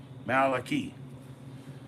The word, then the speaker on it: Malachi: Malachi, like Key, key, CHY. See, like a CH can make a key, right? And Y can be E, Malachi.